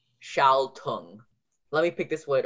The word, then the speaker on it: schaltung: Okay, so another thing is the S-C-H. So you have G-L-E-I-C-H, and then S-C-H for the sh sound, and then all, glide, shall, sorry. And then you have the ung ending again, U-N-G.